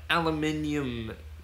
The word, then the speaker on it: aluminium: yay pronunciation apparently it's I think it's spelled differently as well I think that's why the Americans say yeah it is spelled